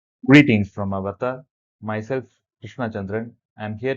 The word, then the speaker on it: Avarta: So avarta or avata is pronounced avata is a Sanskrit word that generally means worldpool